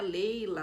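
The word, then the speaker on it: Laylah: escreve assim por exemplo se pronuncia Leila se escreve Laila então você pode pesquisar Laila com l a y l a e h no final ou l a i Né Leila Laila se pronuncia Leila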